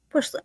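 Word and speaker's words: Puslinch: Push lynch? Push lynch. Like almost like there's an H, right? Like a push lynch. Okay. Plus. Oh, it is. It's push lynch.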